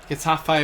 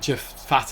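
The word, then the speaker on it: Getafe: Uh, Gafe away from home. I hope I've I used to pronounce it Jeff Fate, I think, when I was a kid.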